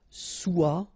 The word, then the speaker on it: soit: Okay, then of course être and avoir, so être will become soit, remember final S is not pronounced, soit, then soyons, soyez,